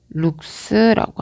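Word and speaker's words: lux: 그걸 바로 조도라고 했고 얘는 룩스라고 합니다.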